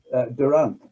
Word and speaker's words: Durant: was a chap called phil durant which rhymes with current we discovered on this